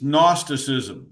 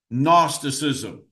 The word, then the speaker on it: gnosticism: of the early heresies gnosticism that's how you say that word the the g is silent gnosticism g n o s